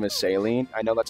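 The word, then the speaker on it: Céline: just keep it a buck I don't like pronouncing her name is saline I know that's how they say it in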